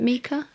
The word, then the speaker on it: mica: Is Mica one? Is that how you pronounce it? Mica?